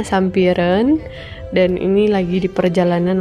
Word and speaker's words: Sampireun: ke Kampung Sampireun mereka tulisannya sih Kampung Sampireun gitu deh ya tapi dibacanya katanya Sampireun dan ini lagi di